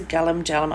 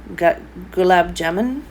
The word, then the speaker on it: Gulab jamun: Now I think these are galam, the same as the galam jalam. I'm not going to pronounce that correctly. Gulab jamun.